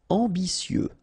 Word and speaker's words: ambitieux: Ambitieux, final X not pronounced, and then remember that you get this T, I, and then vowel, so si.